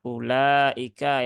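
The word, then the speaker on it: أولئك: ini tadi sudah dibahas bahwa ini dibacanya ulaika ya u-nya tidak dibaca Nah kalau di mushaf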